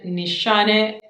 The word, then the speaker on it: Nishane: is from the brand nishane my turkish friend told me how to pronounce that from the brand nissani fan your flames this